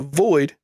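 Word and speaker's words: VXIIID: on where to find it this is uh void uh pronounced void spelled uh voxed v x i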